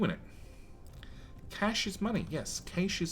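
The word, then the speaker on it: cache: Cas yeah Cas Cas whereas elsewhere in the world it's pronounced cash which I just thought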